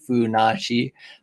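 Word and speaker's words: Funassyi: it in the chat funachi i think that's how you spell it i don't know if that's how you spell it in english but they say funashi but like it's hilarious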